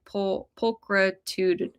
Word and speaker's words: pulchritudinous: Zach says, "It would be pronounced more like pulchritudinous.